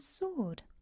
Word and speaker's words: sword: And we've got a silent W in answer or answer and sword.